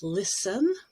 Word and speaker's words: listen: t in english so there are some words where t is always silent s-t-e-n toward the end of a word like listen or fasten fasten your